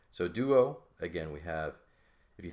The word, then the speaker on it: duo: think about this the the D here is pronounced the tip of your tongue is behind your teeth and then you have a oo sound right so Doo and